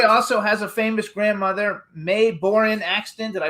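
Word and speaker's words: Mae Boren Axton: So you guys, Hoy also has a famous grandmother, May Borin Axton. Did I pronounce it right?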